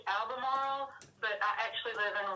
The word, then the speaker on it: Albemarle: do you say albemarle or albemarle uh it's pronounced albemarle but i actually live in raleigh north carolina